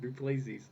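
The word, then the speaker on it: du Plessis: Just say Duplessis. Duplessis. Whatever, man. Sure. He's like a Greek warrior. Duplessis.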